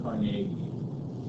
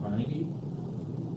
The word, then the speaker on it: Carnegie: so for instance there's a guy named Andrew Cari uh we often pronounce his name Carnegie you ever heard him